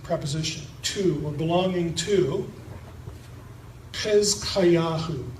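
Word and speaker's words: חזקיהו: Hezkayahu, Hezekiah, that's the Hebrew pronunciation.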